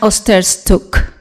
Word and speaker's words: Osterczuk: Again? It's Osterczuk. Osterczuk.